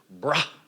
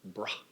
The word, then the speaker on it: Brahman: Listen to how I say that, Brahman, right? Brahman.